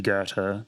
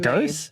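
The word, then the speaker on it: Goethe: to read so like when I first looked at it I was like go like is that how you say it like I don't know the Australian like Bogen in me kicked in I was like ghost is that how you say it ger is how you say it I like okay cool that's not intuitive at all so we don't like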